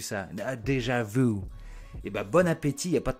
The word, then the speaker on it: bon appétit: Et ben, bon appétit, il n'y a pas de traduction. Ils disent même bon appétit. Mais ils prononcent le T. Bon appétit.